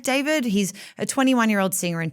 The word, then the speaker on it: D4vd: David, I should note, is spelt, his artist name is spelt D4vd. So it looks like David.